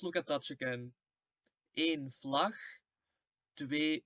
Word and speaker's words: vlag: But the pronunciation in the G, it stays the same. Eén vlag, twee vlaggen. It doesn't change.